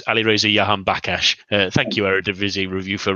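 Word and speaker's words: Alireza Jahanbakhsh: And for future reference, at least for you, Jez, it's Alireza Yahan Bakash. Thank you, Eredivisie Review, for reminding me how to pronounce that name several different times at least.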